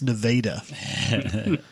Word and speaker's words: Nevada: not in their town it's Nevada nope nah nope it's nadaa the state pronounces it wrong cuz my town was